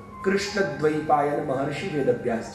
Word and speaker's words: कृष्ण: अब हिंदी भाषी जितने वो कृष्ण कहते हैं, तो उनके प्रोनाउंसिएशन के चक्कर में बेसिकली करेक्ट प्रोनाउंसिएशन कृष्ण है, क्योंकि संस्कृत में क्रू होता है, क्री नहीं होता। हिंदी में क्री बोला जाता है पर संस्कृत में क्रू